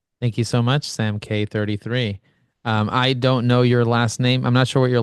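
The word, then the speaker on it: Kaye: Sam K uh it it's actually K okay just K just the letter k no it's k a ye e but it's pronounced k okay okay okay okay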